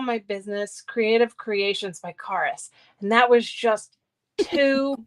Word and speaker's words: Charis: it'd be cool okay so carus is spelled c h a r i s and if you um remember it is the root word of Carisma so it's Charisma without the ma um and then and